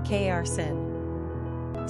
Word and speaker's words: Karsyn: Quick facts on Karsyn. Gender, girl. Origin, American. Number of syllables, 2. Ranking popularity, 736. Pronunciation, Karsyn.